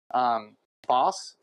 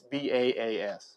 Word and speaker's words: Baas: Boss is his original name. It stands for Boss Dog, and he is that. And it's so not it Boss, BOSS. No, it's BAAS. Yeah. So it's like a boss.